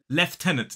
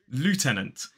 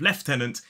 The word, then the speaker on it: lieutenant: word so yeah but the pronunciation in a modern British RP accent is technically L then the second stress syllable is T and then the last syllable is a Schwan leftenant now the American pronunciation is Lieutenant which I got to be honest it makes a bit more sense than left tenant due to the lack of an F but I will also